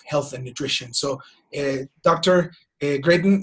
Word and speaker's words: Gratton: Gratton, right? That's how you say it, right? In English. Got it. Gratton.